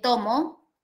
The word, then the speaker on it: tomo: Puedo decir, el tomo, para que sea más diferente, del libro. ¿Sí? En este caso, la palabra se pronuncia con una grave, ¿no?